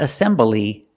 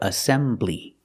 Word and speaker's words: assembly: three syllables assembly the stress is on the second syllable not assembly but assembly first let's talk about assemble